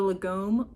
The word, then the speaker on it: lagom: I like this because it has a lot of cool detail, and this one's called the Lagom Pullover, and I think that I'm pronouncing that correctly.